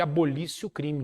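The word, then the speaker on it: abolitio criminis: que nós chamamos de abolicio o crime nisso que se escreve abolitio crimes é revogação de um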